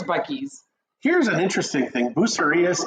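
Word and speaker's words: Buc-ee's: I see Bucky's, and I always pronounce it Boosie's, but I know it's Bucky's.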